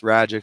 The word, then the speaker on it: Ragic: people struggle with it it's ragic so I tell them ragic like magic so magic ragic and I could do